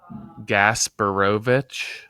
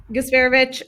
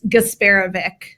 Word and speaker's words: Gasparovic: a C sound, but I'm kind of thinking gasborovich. I was gasparovic, but neither of you is correct. Nick closer, I think it probably was gasparevic Originally, but then, you know America, but it's gasparevic.